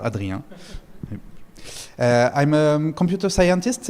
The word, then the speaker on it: Adrien: Um first I'm Adrian and uh this you pronounce it very well Adrian.